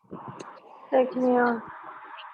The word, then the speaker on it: Seigneur: Seg, pronounce Ma'am. it. Seigneur.